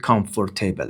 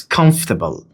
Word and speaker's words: comfortable: Do not pronounce it comfortable. It's comfortable.